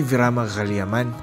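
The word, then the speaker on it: Sri Veeramakaliamman: natutunan na naman tayo yyung pronunciation pala dito is Sri virama gaman itong Temple pala na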